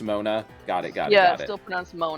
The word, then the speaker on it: Moana: So, it's still Mona, but it's kind of like Moana, but it's still pronounced Mona.